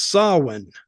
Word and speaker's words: Samhain: It's spelt Samhain, but it's Samhain. Yeah, I was looking. I said, how do you say this? It's Samhain.